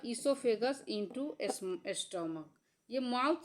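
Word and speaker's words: oesophagus: अब देखिए यह इससोफेगस यहां ओ साइलेंट रहता है।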